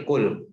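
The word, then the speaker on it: قل: Jadi fiil amr ini kul, katakanlah oleh. Jadi bacanya pakai qaf ya, jangan pakai kaf. Kalau pakai kaf, kalau kul itu dari akala yakulu.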